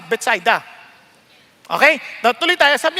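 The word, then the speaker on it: Bethsaida: Baka iba sa inyo mahigpit kayo sa English expression pronunciation sa English kasi beta pero sa Hebrew besets ay sa mga Hudyo betsida. Okay lang ha? Kaya huwag na kayong magtalo-talo diyan basta betsida.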